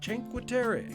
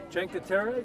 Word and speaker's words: Cinque Terre: Italian Riviera to visit the 5 villages of Cinque Terre, known for its iconic views and very unique terrain. So we made it on the train. We're here at our first stop in Cinque Terre.